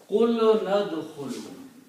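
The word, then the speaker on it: قُلْنَا ادْخُلُوا: Separately, the word is udkhulu, but by the combination, you don't pronounce alif. Qul nadkhulu.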